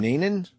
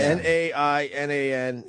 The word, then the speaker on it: Nainan: Nanan? Can you look him up? Dan Nanan, I want to Nainan.